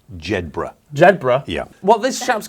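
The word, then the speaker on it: Jedburgh: former copper he's 56 from jedinborough in scotland and he's going around collecting bricks it's pronounced jedbra zebra yeah well this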